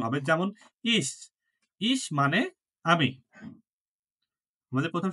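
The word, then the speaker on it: ich: সময় সি এইচ এসে থাকলে ছ এর মত উচ্চারণ হবে যেমন ইস ইস মানে আমি আমাদের প্রথম শব্দ কি ইস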